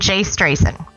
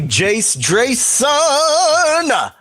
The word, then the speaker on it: Drayson: And Jace Drayson. But you said it wrong because it's actually Jace Drayson.